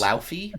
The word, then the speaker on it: Laufey: There's a clip when she was on the Graham Norton show that if you really want to try to say it in proper Icelandic, you can.